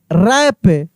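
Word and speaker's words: wrap: आई एस T wrist W आर ए पी रैप डब्ल्यू आर ई सी के rake rake W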